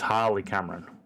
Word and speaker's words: Harley Cameron: I think I said Hayley, it's Harley Cameron. I think because I've got a cousin spelt like that, I keep mispronouncing it.